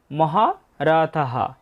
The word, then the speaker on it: মহারথঃ: এরপর আছে চ তারপর মহা রথাহ বাক্যের শেষে বিসর্গ থাকলে তার উচ্চারণটা হয় পুরো হ এর মত তাই হবে মহা রথহ